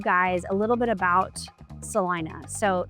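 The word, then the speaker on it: Celina: a little bit about Salina so it is spelled Selena everyone pronounces it Sal Ina I'm not sure why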